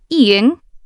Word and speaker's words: 이응: But when it appears at the end of a syllable, it sounds like ng.